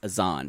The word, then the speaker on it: Azan: We've been corrected that she just says his name wrong. It's Azan. Azan is his name.